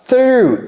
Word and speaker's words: through: Through. Through. You see my tongue? You see my You see my teeth? through.